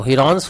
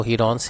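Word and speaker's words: Heron's: तो हीरोन्स formula जो है, इसका जो प्रोनाउंसिएशन है, बेसिक प्रोनाउंसिएशन वो हीरोन्स है, ऐसे ही है. हीरो फार्मूला नहीं बोलते इसको, कई स्टूडेंट हीरो फार्मूला बोलते हैं. हीरो नहीं है वो, हीरोन्स है ना.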